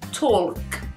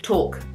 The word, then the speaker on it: talk: Actually, in English, we do kind of pronounce this. It should be talk.